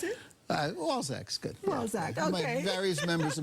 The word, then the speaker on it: Walczak: How is it that you pronounce it? Walczak's good. Walczak, yeah.